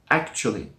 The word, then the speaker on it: actually: Yes, it looks like actually, the way it's written with 4 syllables, but we drop one, we drop the schwa sound, and it becomes actually. Actually. That's right, there's 3 syllables now.